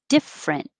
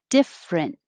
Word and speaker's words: different: probably more often 22 is also two syllables different different i put difference over here as well it looks like it would be difference but we just make it shorter difference 23 meh ridge